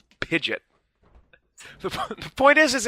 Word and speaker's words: Pidgeot: that they're using is a pige it's it's pronounced Pidgeot Pidgeot the point is is it's rid it's such